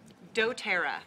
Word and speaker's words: doTERRA: the name of your business and you can pronounce it for me dotera dotera and it means gift of the Earth